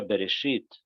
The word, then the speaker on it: Bereshit: cuenta que la palabra beresit adentro de la letra bet tiene un punto adentro de la bet hay un punto que hace que la bet se pronuncie más fuerte berit es una cosa